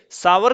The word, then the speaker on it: sour: ہیں یہ کھٹے ہیں۔ دیکھیے، ساور کا قافیہ آور سے ملایا ہے، آور جس طریقے سے آور کا تلفظ ہے اسی طریقے سے ساور